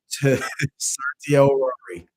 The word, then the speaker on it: certiorari: You need to learn what mandamus is, prohibition is, a full warranto, and a certiorari.